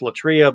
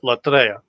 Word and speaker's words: latria: Sometimes pronounced latria, but latria. Latria.